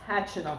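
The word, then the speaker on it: Khachanov: No, you're saying it wrong. It's Hatchanov. Is that Kachanov?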